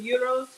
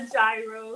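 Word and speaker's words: gyros: I'm just making some uros on peer bread and that is the pronunciation AO it's not a gyro it's not a Giro the g is silent it's a soft G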